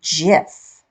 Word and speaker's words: GIF: working I'm downloading that gif I say GIF some people say gif I do a hard G it's just a preference